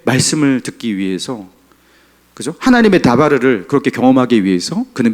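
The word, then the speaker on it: דבר: 다바르. 자, 광야는 미드바르. 말씀은 다바르.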